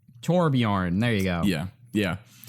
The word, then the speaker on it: Torbjörn: Ellen by the way I do know this cuz effort and pronounced in the game it's torbjörn torbjörn there you go yeah